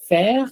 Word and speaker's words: fer: FER is pronounced as fair because I can say this word in one single sound.